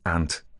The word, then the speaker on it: aunt: they think I'm saying ant as in the um and I do pronounce it exactly the same the ant the crawly animal crawly little insect and um the my